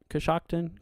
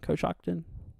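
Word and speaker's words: Coshocton: hill sorry uh you're very very welcome uh kakon is that how you say that koson Kos Shockton Kos Shockton got you appreciate it guys thank you for the help on pronunciations here that's one thing I in the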